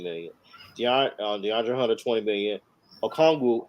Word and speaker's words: Okongwu: You know, and even I mean, some of these guys like your I can't even pronounce his second guy. Akuanga. Okongwu.